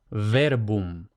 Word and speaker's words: verbum: Y luego vemos que la B se llama bilabial porque tocan los dos labios. Entonces, verbum, verbum. Por tanto, verbum, no verbum.